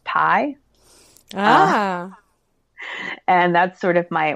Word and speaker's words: 3.14: And then I'm also on a team called 3.14, pronounced Pi.